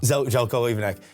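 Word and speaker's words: Željko Ivanek: Pronunciation correct there? Zelko, yeah. Zelko Ivanek.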